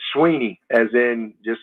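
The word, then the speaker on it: Swinney: It's Dabo, as in apple, Dabo, and I get all kind of pronunciations of that, and it's Sweeney, as in just like EE.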